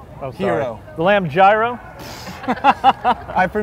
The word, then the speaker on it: gyro: Mario's Cuisine the lamb Jiro you said it wrong hero the lamb gyro all